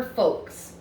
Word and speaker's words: folks: of palm with her folks. Folks is a funny word because you cannot hear the L sound in it at all.